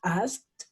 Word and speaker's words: asked: Porque este sonido, el sonido de la K, no hace vibrar las cuerdas vocales, ¿sí? Es el sonido K. Entonces, asked sería la pronunciación.